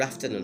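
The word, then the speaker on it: afternoon: বিকাল হলে good আফটারনুন, হাউ আর ইউ, আরটা আমরা সাইলেন্ট রাখবো, good আফটারনুন, হাউ আর ইউ।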